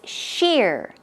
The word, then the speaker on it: sheer: keep in mind that this is one syllable it's not she all its sheer ear shear and it